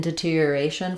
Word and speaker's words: deterioration: of an R sound the stress in deterioration falls on the a syllable so um we words that